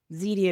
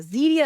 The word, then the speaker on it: Zeedia: message so my name zidia media zidia is a made up word so a real word which is easier to copyright and it Rhymes which is fun too my last name